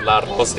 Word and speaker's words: La Rosie: Now people pronounce it with La Rosie. They give that roll of the R, you know?